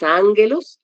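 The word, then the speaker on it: ἄγγελος: sustantivos masculinos, que es ángelos. Recordemos que cuando hay 2 gamas seguidas, la primera se pronuncia como una ni, como una n.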